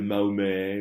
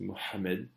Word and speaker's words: Mohammed: Et je tiens à le prononcer comme ça parce que c'est une marque de respect. Je ne suis pas en train de parler de Mahomet ou de Mohamed, non, c'est Mohammed. Et je ne sais même pas encore si je le prononce assez bien, mais en tout cas, je fais l'effort.